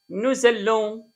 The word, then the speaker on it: nous allons: يا استاذ الفرنساويين بينطقوا الاس دي يا زد، لما يجي بعدها حرف متحرك.